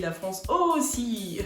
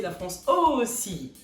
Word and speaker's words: La France Ô Si: On me dit souvent que le nom La France aussi est un petit peu dérisoire. Lorsque ma fille le prononce, elle dit la France aussi.